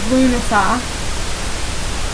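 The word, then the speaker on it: Lughnasadh: pronounce this but um the way it's spelled and the way I was always saying it growing up was llas not llamas LL but um it's known as lunasa and it celebrates the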